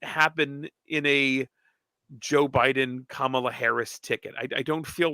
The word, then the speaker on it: Kamala: Yes, Kamala.